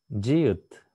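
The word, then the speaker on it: 지읒: Джиют. Джиют. В верхней позиции она читается как дж, в нижней позиции читается как т.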